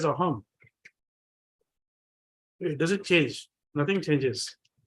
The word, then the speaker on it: Assam: Simply because in Assam, we pronounce it as Ahom.